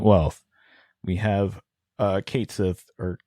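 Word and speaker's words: Cait Sith: we we have uh Kate Sith or Kai I don't know how to pronounce his name from Final Fantasy everybody pronounce it Kate Sith they say it they say Kate Sith in the game so do they great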